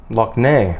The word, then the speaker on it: Lough Neagh: a huge lake or we call it a lock like in Scottish they spelled L och some of your viewers may have heard of the Loch Ness monster Nessie yeah in Northern Ireland we spell it ello ugh and the big the big lake in Northern Ireland it's called Lough Neagh look now so yeah if you